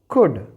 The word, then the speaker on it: could: तो इसे हम प्रोनाउंस करेंगे वुड। This one इज कुड and here it इज शुड।